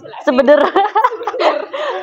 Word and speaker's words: SBDRR: Kalau disingkat itu. Iya. Pelafalannya Sebeder.